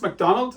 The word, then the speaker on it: Macdonwald: been a rebellion a Scottish nobleman called It's pronounced McDonald as in mackie's but it's a w in